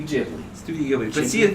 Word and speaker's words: Ghibli: No, you see the Japanese pronunciation is Gibbery. Gibbery. Gibbery So is if you, Gilby. no, yo. so if you translate that into English, it would be Ghibli.